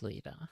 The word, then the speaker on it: Louisville: It is Louisville.